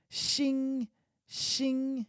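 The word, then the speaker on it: 星星: cheers uh ching ching shin shin shin that is stars actually xin xing but literally the same pronunciation exactly the same pronunciation is also orangutan so you could be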